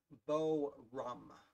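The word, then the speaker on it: Boerum: got one of the two whose name i mispronounced his video uh forum okay so it's weird it's b it's b-o-e-r-u-m bo rum that's how i remember it's stone strong pink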